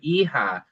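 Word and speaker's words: hija: So we have e-ho and e-ha which then it's not written here but that really represents son and daughter.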